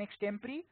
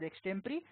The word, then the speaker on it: extempore: management games, essays and extempore. Yes, it's not pronounced as extempo, it's pronounced as extempore.